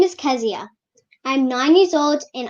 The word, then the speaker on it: Keziah: carry the correct spelling that's k-e-z-i-a-h pronounced at ask zia i'm doing this because when kazia makes it in the big time people would know how to properly uh pronounce your name is that correct kazia yes okay so i'm pronouncing it properly right at nine years old okay so i have been mispronouncing it all along oh my god kezia there you go so do we stress